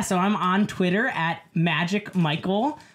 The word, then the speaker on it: Magic_Michelp: Yeah, so I'm on Twitter at Magic Michael. There is no A and the P is silent.